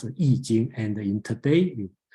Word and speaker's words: I Ching: Some people, the old way spell is this one, but I Ching, okay, but you should pronounce it I Ching, and in today you call it I Ching, and then another way to call it is the Book of Changes.